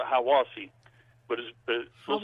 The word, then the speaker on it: Hiawassee: Georgia is how I wash we call it Hiwassee but it feels like it would be pronounced Hiawassee I was he yep but anyway we he